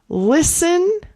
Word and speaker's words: listen: Listen. Also, we do not pronounce the t.